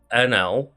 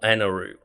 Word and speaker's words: Enel: Again, like Enel, Eneru, like the sound is the same sound, and therefore like both spellings are legitimate because, you know, it's just that weird translation thing of like they don't have a specific like the L or U sound is like very similar in Japanese.